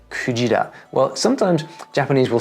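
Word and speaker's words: くじら: How are you supposed to know that it's pronounced kujira?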